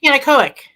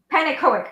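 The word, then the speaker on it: Pannekoek: How do you pronounce his name, please? Who? Panic. K. Horner's real name. Oh, Panicoic. Panicoic.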